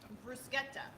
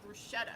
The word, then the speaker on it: bruschetta: correct pronunciation is yes anytime you're here in Italy anything that is a CH we pronounce with the key que we don't pronunci